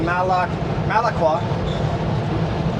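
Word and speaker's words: Malakwa: The actual town, just gotta say it right now, Malaqua.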